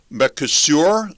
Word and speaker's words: Mercosur: And there's a trade deal with the South American bloc called Mercosur. Am I pronouncing that correctly, Stephen?